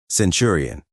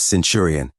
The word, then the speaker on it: Centurion: The recruit imposter said simply, "Nelson, Centurion." He corrected his error, but it's pronounced Centurion, not this Centurion idiocy.